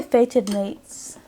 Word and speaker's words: Fated Mates: I'll try Fated Mates. I feel like I have to pronounce it like that because it's not faded with a D, it's fated.